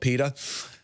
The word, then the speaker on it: PETA: activist group I'm called PETA rhymes with speedo because I think about